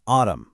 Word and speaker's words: autumn: When you see MN at the very end of a word, that N just decides to take a vacation. It's seen, but it's definitely not heard. Now, this pattern might be a little less common, but it's just as consistent. Just think of the season autumn or a structural column or a serious moment being solemn.